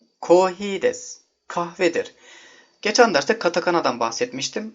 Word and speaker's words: です: Desu bir yardımcı fiildir. Oluş bildiren fiildir. Bunu aklınızda OLMAK anlamında tutmayın. DESU kelimesi, desu diye yazılıyor Fakat des olarak okunuyor. Buna da dikkat edelim. Bazen desu olarak duyabilirsiniz.